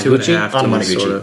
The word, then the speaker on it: Anamanaguchi: It's one of those Naguchi? Two and a half. Anamanaguchi. Sort of. Anamanaguchi, thank you. I have trouble pronouncing their name, but I like their music a lot.